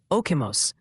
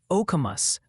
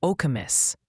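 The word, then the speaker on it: Okemos: Oh, and the pronunciation committee has urgently ruled okimos is more like okamos or okamus.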